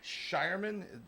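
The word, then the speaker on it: Scheierman: key cog but the Celtics drafting Baylor to pronounce the name right shyan um and then they picked up Anton Watson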